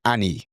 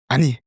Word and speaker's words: 아니: But it's not, that's with the British English pronunciation, Annie. Or a formal way, Annie예요. But we want to practice with the Korean intonation, 아니, 아니에요, 아니에요, 아니에요.